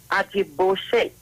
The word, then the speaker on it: Ajiboshe: Irish, And stop pronouncing my name wrong, please. It's Ajiboshe.